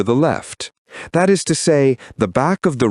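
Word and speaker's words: Sah: Hum is written with the letters H-A-M, and sa is written with the letters S-A-H. The H always sounds like J.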